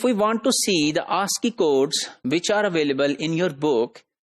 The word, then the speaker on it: ASCII: Interchange, that is called ASCII, and that is pronounced as ASCII. So that ASCII had 7 bits for information representation, and most significant bit was just 0.